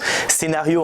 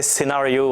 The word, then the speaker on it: Cenareo: donc ça ce prénom ça se prononce scénario en français scénario en anglais c'est parce qu'on est